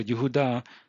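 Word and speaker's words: יהודה: So Yehudah is how you pronounce that word.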